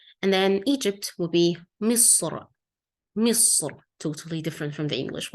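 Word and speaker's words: مصر: And then that's, of course, London, but a bit different in the Arabic pronunciation. So we say London. Yeah. And then Egypt will be Misr.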